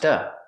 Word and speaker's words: to: To is pronounced duh. A fast D.